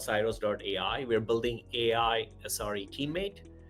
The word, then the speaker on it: Ciroos: We company, as you pronounce, it's called Cyros.ai.